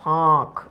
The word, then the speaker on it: ফাঁক: আচ্ছা, এখানে কিন্তু চন্দ্রবিন্দু আছে, উচ্চারণটা হয় ফাঁক, ঠিক আছে।